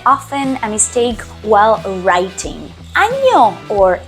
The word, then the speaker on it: año: We have a letter that it's called ñ that changes the meaning and also the pronunciation. So it's not feliz año nuevo, it's feliz año nuevo. If you're saying ano, the N without the thingy above, well, it would be anos.